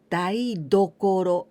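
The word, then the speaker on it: 台所: As I told you, only tokoro, this is place, and now I add this one, daidokoro. Here I pronounce with ten, daidokoro.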